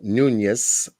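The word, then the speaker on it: Núñez: this uh Yadira Elizabeth Morales Nunes or Nunes if you're pronouncing it with the accent in Spanish did not sign her signature on line 18.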